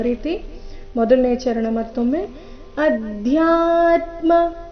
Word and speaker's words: ಅಧ್ಯಾತ್ಮ: ರೀತಿ ಮೊದಲನೇ ಚರಣ ಮತ್ತೊಮ್ಮೆ ಅಧ್ಯಾತ್ಮ ಇಲ್ಲಿ ಧ್ಯಾ ದ ಅಧಿಕ ಯ ಸಂಯುಕ್ತಕ್ಷರ ಅಧ್ಯ ಬೇಡ ಅಧ್ಯ ಮಹಾಪ್ರಾಣ ಸ್ಪಷ್ಟವಾಗಿ ಬರಬೇಕು ಅಧ್ಯಾತ್ಮ ಜ್ಞಾನ ನಿತ್ಯತ್ವನ್ ತತ್ವಜ್ಞಾನಾರ್ಥ ದರ್ಶನಂ